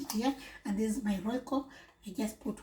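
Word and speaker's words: Royco: How do you call roiko in your region?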